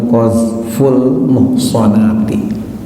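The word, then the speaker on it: قذف المحصنات: Ya, sekali lagi judulnya atau temanya dan hurufnya gundul ya. Jadi dibacanya Qazful Muhsanati.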